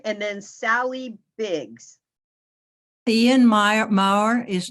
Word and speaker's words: Maurer: Maurer, M-A-U-E-R.